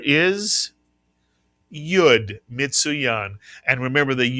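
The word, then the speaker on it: י: This is the and the tenth letter of the Hebrew alphabet makes the same sound as the English letter Y. Mitsuyan, the name of the letter is Yud. Mitsuyan. And remember, the Yud acts the same way the English letter Y acts.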